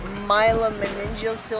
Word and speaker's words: myelomeningocele: i have is really a difficult one to pronounce myelomeningocele i believe it is it's basically my spinal